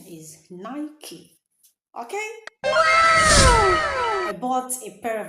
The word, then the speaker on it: Nike: The right pronunciation of that word is Nike. Nike. So you don't say Nike.